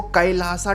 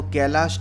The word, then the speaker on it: कैलाश: अब बहुत सारे अंग्रेजी के दीवाने इसको कैलासा टेम्पल बोलते हैं, जैसे योग को योगा और रामायण को रामायणा। लेकिन चूंकि हमारी हिंदी बहुत अच्छी है, तो मैं इस वीडियो में इसका प्रॉपर प्रोनाउंसिएशन ही करूंगा। मैं इसको कैलाश टेम्पल ही कहूंगा। तो अगर किसी को कैलासा